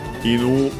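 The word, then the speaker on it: 犬: But yeah, koinu, inu, accent on the last syllable on its own means dog.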